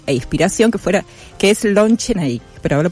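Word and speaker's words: Lon Chaney: su ídolo y inspiración que fuera que es Lon Chenik, pero lo pronunciado bien, ¿okay?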